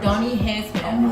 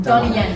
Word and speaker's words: Donnie Yen: So this actor Donnie Hansman, hopefully I'm pronouncing that. Donnie Yen, there we go.